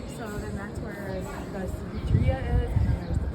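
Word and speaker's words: Cevichería: And then can you tell them more about the, I pronounced it wrong. Cerveceria? Yeah, so it's like 13 Cevicheria? Cevicheria, 13 different types.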